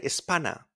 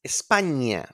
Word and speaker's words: España: Now, the ñ in Spanish sounds like an onion. Onion. So please don't pronounce the ñ like an N. That's a common mistake. So remember the sound in onion. España. España. We don't say Espana. It's España.